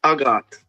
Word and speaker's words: Hagaat: Pronounce it for me. It's a Yes. Agot.